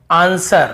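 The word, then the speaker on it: answer: जैसे आंसर, हमें आंसर नहीं पढ़ते, वर नहीं पढ़ते, आंसर, बस आंसर, जवाब।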